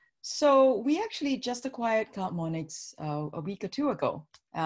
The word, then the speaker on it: CloudMonix: Did I pronounce that correctly? Is it CloudMonix? You did. Yeah, CloudMonix.